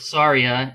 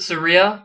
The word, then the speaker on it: Saria: sari It's s s could you pronounce it Saria like Maria would that be easier to uh I think I always pronounced it Saria in any case Majora's